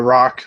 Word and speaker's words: roc: A rock, which is spelled ROC, if you don't know what that is.